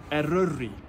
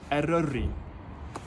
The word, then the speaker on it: Eryri: No pressure to get the pronunciation perfect, but try this. Wyddfa. Wyddfa. Eryri. Eryri.